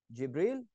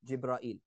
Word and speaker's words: Jibril: There's two ways to say the same name. So Mikal, Mikael. Jibril, Jibrail. Referring to the same angel. It's not two different. So it's two different ways to pronounce something.